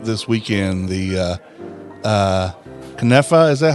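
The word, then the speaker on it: knafeh: you posted it this weekend the uh uh KFA is that how you say it yes kafa is another amazing Middle Eastern dessert that it's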